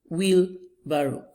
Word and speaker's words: wheelbarrow: Wheelbarrow. Wheelbarrow. It has been divided into 3 syllables as well. And the stress appears on the first syllable.